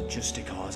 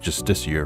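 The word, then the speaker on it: Justiciar: Some Justicars ambushed me outside of Falkreath. You know it's pronounced Justicier, right?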